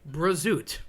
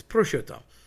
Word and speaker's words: prosciutto: Prosciutto. Prosciutto is a cured ham, very salty, very yummy. People say prosciutto. Okay, there's no B involved whatsoever. Definitely not a Z. It's prosciutto.